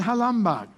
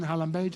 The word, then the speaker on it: Halambage: This is Halambag. Halambag. Oh, pronunciation, Halambage. Anyway